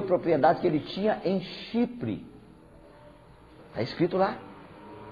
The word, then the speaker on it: Chipre: Ô, irmão, não é chifre não, viu? Chipre. Que a gente não pronuncia muito bem, o irmão chegou lá, o irmão falou que tem um lugar chamado Chifre. Não, Chipre, com P.